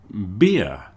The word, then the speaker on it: beer: Beer pronounced beer. rhymes with ear or grand beia in Bilbell. If you think of the main street in Bilbell, Grandia, you're close to the pronunciation.